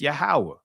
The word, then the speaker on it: Yahweh: Then 2, based on the Tetragrammaton, should be reconstructed as Yahweh.